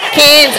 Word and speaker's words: Cairns: Cairns. Up in the back of the nose, Mary. Cairns. No S on the end.